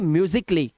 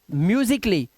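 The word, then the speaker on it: musically: अब ध्यान से देखिए यदि कि ए के बाद डबल एल वाई आता है तो ए साइलेंट होता है अब इन वर्ड्स को ध्यान से देखिए यहां पर इस वर्ड को देखिए क्या लिखा है म्यूजिक उसके बाद ए के बाद डबल एल वाई लगा हुआ है तो हम ए को नहीं पढ़ेंगे तो हम पढ़ेंगे म्यूजिकली क्या पढ़ेंगे म्यूजिकली इसी तरह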